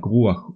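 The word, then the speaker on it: רוח: For example, if a chet is the last letter of a word, it is pronounced as ach, like ruach or sholeach, but if it's not the last letter in the word, it's pronounced as cha, like mitachat.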